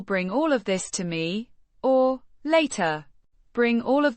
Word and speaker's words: мне: It's an adverb of time means to me or me pronounced with a soft sound and a slightly elongated y sound.